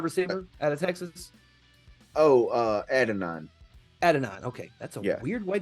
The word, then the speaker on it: Adonai: I want to say that's how that's pronounced. Offensive tackle out of BYU. Eagles are planning to get Adania Mitchell, wide receiver. Is it Adania Mitchell out of Texas, wide receiver out of Texas? Oh, Adonai.